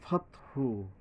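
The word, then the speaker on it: فتح: অল ফাতহু, ফাতহু এই যে লম্বা হা, এখানে থামলে ফাতহ, ওই রস্যু না বললে হবে ফাতহ।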